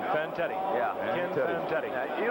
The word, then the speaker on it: Fantetti: Fantetti.